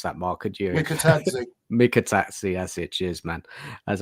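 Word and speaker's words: Mikautadze: I can't even pronounce that, Mark. Could you? Mikatadze, that's it.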